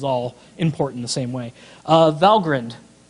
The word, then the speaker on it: Valgrind: Valgrind. That's pronounced Valgrind, by the way. I've been pronouncing it wrong for many years.